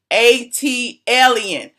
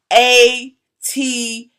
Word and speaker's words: ATLien: All of y'all who be doing videos, ATLien, learn how to spell how to pronounce ATLien. It's actually on the cup. I put it on the cup on purpose. See the little pronunciation? ATLien. ATLien. Get the name right.